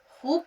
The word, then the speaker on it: खूब: अब खूब उच्चारण सबसे पहले ध्यान रखना है। हमने सोचा खूब फिरे खूब फिरे तो ख प्लस वाव प्लस बे।